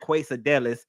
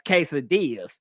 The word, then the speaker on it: quesadillas: And the guy who was playing, the waiter was like, "Ma'am, that's not quadelis. That's quesadillas." And I'm like, "You lied.